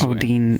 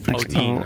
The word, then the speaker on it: Odine: Odine, Odine, O-O-D-I-N-E, yeah.